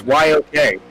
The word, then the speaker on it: New York: It's New York. It's just it's YOK.